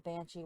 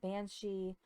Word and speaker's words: banshee: celtic and all that the name of the banshee was actually pronounced a couple of different ways you had banshee banshee benshi they were translated by